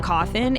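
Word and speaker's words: Cawthon: title created by Scott coffin and released in August of 2014 I always thought it's a little Eerie that his last name rhymes with coffin but I mean listen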